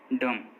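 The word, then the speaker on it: dumb: जब भी एम के बाद बी आएगा तो वो साइलेंट रहेगा। जैसे कॉम, बॉम, थम, डम, इन सभी वर्ड्स में देखिए एम के बाद बी आया है और जब भी किसी वर्ड में एम के बाद बी आता है तो बी साइलेंट होता है।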